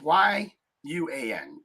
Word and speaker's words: yuan: the U.N what if y-u-a-n you on Yuan I think is how you pronounce it if they do that